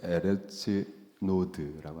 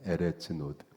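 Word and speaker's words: ארץ נוד: 동편 노 땅으로 예 도망을 갔습니다 노땅 히브리어를 에레츠 노드라고 합니다 에레츠 노드 놋으로 해석해 옷이라고 노땅이 옷이라고 해석한 또는 그렇게 발음을 한 표기한 히브리 그가 노드데이타 탄식하다 요동하다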